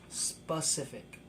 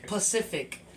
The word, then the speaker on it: specific: Specific. I'm saying it wrong. Specific. Is it specific? Yeah, it's specific. I'm saying it right. Got it. Yo, alright, I used to say Pacific for specific for years, and I have conscious problems about it.